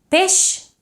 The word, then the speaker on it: peix: Peix is pronounced with a sh, but peix espasa is pronounced with a j.